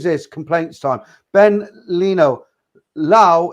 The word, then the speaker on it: Lao: Lao is pronounced Loy.